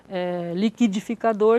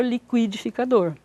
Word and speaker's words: liquidificador: muitas vezes acontece que nós temos dupla prosódia duas maneiras de pronunciar uma palavra liquidificador liquidificador certo liquidação liquidação então é a dupla